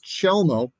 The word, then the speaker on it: Chelmo: So again, the actual pronunciation, Scott, is Chelmo.